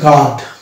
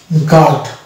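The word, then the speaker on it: guard: Next অর্থ চলে যাবো, এটা হচ্ছে গার্ড। গার্ড, এখানে জি এ গ পেলাম, এ উচ্চারণ আকার পাচ্ছি, আর এ রে ডি এ ড গার্ড, ইউ এখানে সাইলেন্ট হয়ে যাচ্ছে, অর্থাৎ এর কোনো প্রোনাউন্সিয়েশন আসছে না। সুতরাং এখানেও দেখতে পাচ্ছি ইউ সাইলেন্ট।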